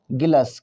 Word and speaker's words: गिलास: तो ये होगा हमारा गिलस। क्या होगा? गिलस। अच्छा, गिलस उच्चारण सही है? गिलस उच्चारण गलत है, सही उच्चारण गिलास है।